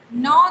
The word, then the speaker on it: gnaw: यहाँ पर जी बिल्कुल हल्के से आप उसका प्रोनाउंसिएशन करेंगे, उसके बाद ग्नॉ, ग्नॉ, ग्नॉ, ग्नॉ, या फिर उसे साइलेंट भी मान के चल सकते हैं.